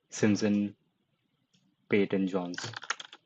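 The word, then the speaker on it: Simon Peyton Jones: Simpson Peyton Jones, that is the correct pronunciation that I'm going with.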